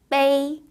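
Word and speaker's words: 悲: 중국어 발음으로는 빼이 라고 발음을 하고요.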